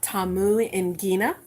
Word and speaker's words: Tamungina: check out my website triple w dot amou and ghena that's how to pronounce my name and oh let me